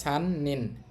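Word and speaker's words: 三人: একত্রে বললে উচ্চারণ হবে সান নিন, তিনজন।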